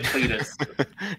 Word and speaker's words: Clitus: Oh, it's not Greek pronunciation. It sounds like Cletus.